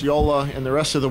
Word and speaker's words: Jolla: Yola is the right name. Yola or Jala because it's in Finland it's pronounced Yola. In the rest of the world, we're we're typically calling Jola, but either one works for me.